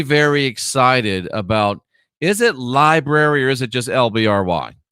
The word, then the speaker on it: LBRY: the lbry or library somebody tell me if it's library or lbry library is how you say lbry okay thank you so